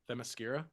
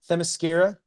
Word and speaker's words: Themyscira: Themyscira. Themyscira, filled with political intrigue and scheming between power players.